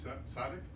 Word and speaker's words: tzaddik: So then would you say that, am I pronouncing it right, tzaddik?